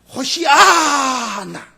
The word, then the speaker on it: 호산나: 그런데요, 이 호산나라는 단어도 여러분 원어 성경에 찾아보니까 그 유대인 우리 발음은 영어 발음이나 호산나라고 되어 있지만 그 히브리 말로는요 호시아나, 그러니까 이거는 경배와 기원을